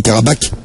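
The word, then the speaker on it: Qarabağ: Parce qu'on y paraît, ça s'écrit Karabakh. Mais après que ça se prononce Karabakh.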